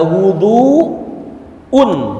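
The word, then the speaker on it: وضوء: Babul wudu bab wudu wudu itu ada dua pengucapan ada wudu UN wuduun wwya didamahin wuduun ada difathahkan waduun ada wuduun ada waduun kalau wuduun itu wudunya perbuatan wudunya kalau waduun wa fathah itu ada air yang dipakai untuk wudu gu ya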